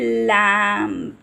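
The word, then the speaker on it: lamb: पे ही खत्म कर देते हैं या फिर लैम तो लैम पे ही खत्म हो जाता है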